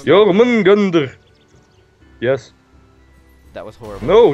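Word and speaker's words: Jörmungandr: No, I'm not gonna try and pronounce it. Jormungandr.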